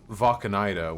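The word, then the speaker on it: Wacheneide: Valkanida. Like German.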